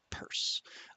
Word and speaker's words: Peirce: I believe his name is spelled as if it were pronounced Pierce, but we actually pronounce it Peirce.